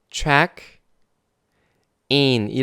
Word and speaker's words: 체크인: 에서 바른 배웠죠 싶었죠 췟 2인이 라고 정확히 발음 하구요 이게 뭐냐면 탑승수속 할